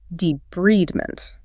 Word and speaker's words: debridement: And if the wound has dead tissue, it will require debridement, pronounced debridement.